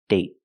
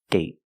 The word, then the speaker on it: date: example day day and date date so with date we see the vow is shorter because you have a stop D at the end I got bored one